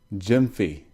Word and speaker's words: Gyamfi: good to talk to you so tell me pronounce your last name for me so I get this right Jim fee great awesome I want to make sure I say it right Jim fee now I'm impressed with what you've got going